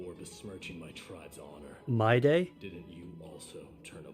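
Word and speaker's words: Mydei: besing my tribe's honor my day didn't you also turn a blind eye or my how do you that is pronounced my day right isn't this Lord mighty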